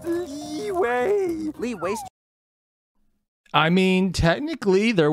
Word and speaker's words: Liyue: It's pronounced Liyue.